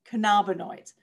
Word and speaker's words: cannabinoids: So another term to learn the pronunciation of is cannabinoids. So THC and CBD are both considered what's called cannabinoids.